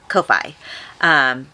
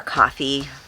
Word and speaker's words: Ko-fi: And maybe even some exclusive live streams on Patreon and Ko-Fi, or Coffee, I guess is how you pronounce it.